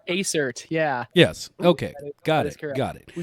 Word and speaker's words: Aecert: And I'm sorry, I did pronounce that right. Right? Aecert, yeah.